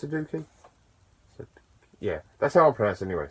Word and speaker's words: sudoku: am i talking about suduki it's sudoku yeah that's our products